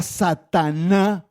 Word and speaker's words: Satan: palabras son las siguientes en el original arameo la palabra Satanás se se pronuncia así en arameo se produce pronuncia satan en arameo pero los muy lindos